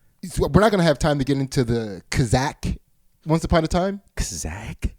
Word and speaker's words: Kazakh: Kazakh.